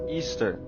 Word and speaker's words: Ishtar: It comes from the celebration and the worship of the fertility god Ishtar, pronounced Easter.